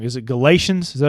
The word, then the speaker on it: Galatians: Is it Galatians?